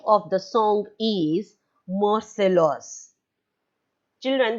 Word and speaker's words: Marseillaise: And the name of the song is Marseillaise. Children, the spelling is different and the pronunciation is different. In French language, it is pronounced as Marseillaise.